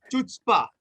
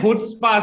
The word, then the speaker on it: Chutzpah: Series आ रहा है जिसका नाम है चुचपा। अब नहीं, नहीं नहीं नहीं नहीं नहीं, उसका नाम है हुत्सपा, सी साइलेंट है।